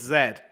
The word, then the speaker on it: Z: The Z business does not fly, it's Z. And you don't pronounce it lieutenant, but lieutenant, just like the Brits do.